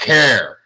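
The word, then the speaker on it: Herer: it's it you know it rhymes like ter it's Jack hair ok and his last name is h er er that easy but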